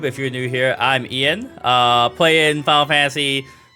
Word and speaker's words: Ian: So, my name is Ian. Starts with an I pronounced like a Y.